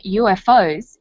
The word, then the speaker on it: UFO: You'll notice that in the story, the term UFOs is pronounced UFOs. We usually say UFO.